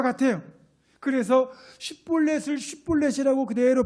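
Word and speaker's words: שִׁבֹּלֶת: 그러면 이 사람을 붙잡아가지고 쉿볼렛이라는 발음을 시켜보는 겁니다. 이 쉿볼렛은 시냇물이란 말인데 에브라임 사람들은 쉿볼렛을 쉿볼렛이라고 발음하지 못하고 쉿볼렛을 쉿볼렛 이렇게 발음을 합니다.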